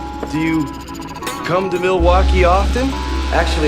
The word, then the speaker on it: Milwaukee: Do you come to Milwaukee often? Actually, it's pronounced Mil-e-wah-kay, which is Algonquin for "the good land".